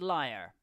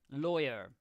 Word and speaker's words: lawyer: lore you become a lawyer no not liar lawyer different pronunciation there oh I just gone in